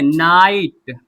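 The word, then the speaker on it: night: तो आई प्लस ट एन आई जी एच टी क्या पढ़ेंगे? नाइट फाइट राइट लाइट।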